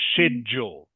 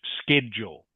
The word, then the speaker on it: schedule: Next word is schedule or sometimes pronounced schedule. Can be pronounced either way in English.